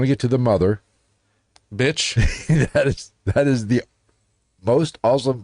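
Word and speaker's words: Bich: Bitch. that is the most awesome fucking name ever. It's actually pronounced Bick.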